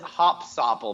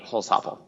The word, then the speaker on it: Hossoppel: Yep, Hossoppel, there you go. I always pronounce it wrong every time. I have two hats. Louis calls it Hopsopple because he's like, it's beer, hops. It's like that. It's actually the owner's wife's maiden name, Hossoppel.